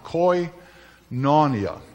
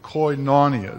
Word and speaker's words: koinonia: I don't even know how to pronounce it. Koinonia. Koinonia is my best shot at it.